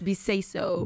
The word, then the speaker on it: Beseisso: I'm not sure if my uncles will say it like that, but yeah, it's Beseisso.